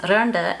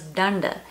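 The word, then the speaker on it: രണ്ട്: For example, the number two is randa, and I always thought it was danda.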